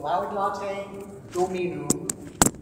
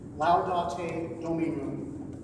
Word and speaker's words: Laudate Dominum: So to pronounce this, because it is Latin, and it does give you the translation. So, Laudate Dominum, Laudate Dominum, omnes gentes, Alleluia. Like that.